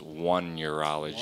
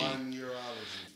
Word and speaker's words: Oneirology: how you say it technically it's one neurology one Urology and then there's a Mexican version Juan Urology okay uh n it's it's like almost like one but it's not exactly it's so I